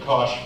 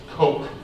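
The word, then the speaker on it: Koch: we've been referenced to Cosh fuels we've been reference to uh Kosh Ford that is not ASAP we've been referenced to Flamboyant male chickens but this is pronounced Coke Coke fertilizer Canada uh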